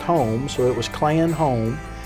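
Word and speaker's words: Hume: Our clan name is spelled H-U-M-E, but it's pronounced home, so it was Clan Home.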